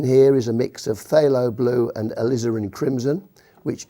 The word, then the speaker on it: phthalo: around the phthalo blue that's spelt with a P but it's pronounced phthalo I don't know why